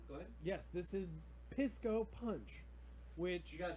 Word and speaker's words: Pisco Punch: Pisco Punch. You gotta say it like Falco Punch. Oh, there you go. Pisco Punch.